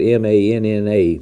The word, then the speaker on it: Manna: That is spelled M-A-N-N-A, Manna.